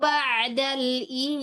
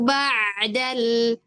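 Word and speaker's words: بَعْدَ: Alfusuqu ba'dal. Ba'dal bukan ba'dal. Kalau ba'dal itu hamzah.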